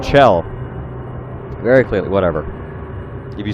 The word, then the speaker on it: Chell: Your main character's name is Chell, by the way. There's like fucking one guy, I think Vinesauce, that pronounces it Shell, like Michelle, even though it's spelled Chell, or you know, the Chell part of Michelle.